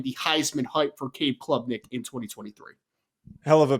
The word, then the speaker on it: Klubnik: I think Clemson is, again, a very good team in 2023, but I am selling the Heisman hype for Cade Klubnik in 2023. Hell of a pronunciation there, by the way.